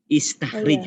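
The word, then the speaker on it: استخرج: Istakhrij ya. Istakhrij bacanya.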